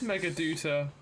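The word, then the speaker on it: Meghaduta: It is Megaduta. You pronounce it as Doot.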